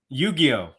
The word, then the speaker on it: Yu-Gi-Oh: Is that Yogayo or Yu-Gi-Oh? I never can get it right. Come on, your girlfriend's Asian. Your girlfriend's Asian. You should be able to pronounce Japanese it. Though. She doesn't know what to say. How do you say it, Dan? Yu-Gi-Oh. Yu-Gi-Oh. Yes.